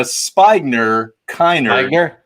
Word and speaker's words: Spigner-Kennard: And I love the way you're pronouncing that right now, because it's actually Spigner-Kennard.